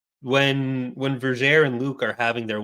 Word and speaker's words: Vergere: about, in Destiny's Way, Vergere, it's actually pronounced Vergere. Is it really? Onimi makes a rhyme that rhymes air with Vergere, and it's all actually rhyming, so it has to be Vergere.